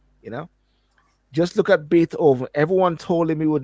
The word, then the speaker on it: Beethoven: But there is this guy named Beat Oven. Yeah. And and and you're pronouncing it wrong, mate. Huh? You're pronouncing it wrong. It's Beethoven.